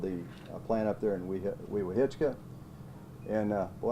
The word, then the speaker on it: Weehawken: He helped rebuild the plant up there in Weehawken. And, well, that's hard to pronounce sometimes, but I guess everybody says Weewalk.